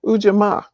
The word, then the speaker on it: Ujima: principle again Nia is that how do you pronounce it Dr Green no the fourth one is ujima ujima ujima ujama and ujima is cooperative economic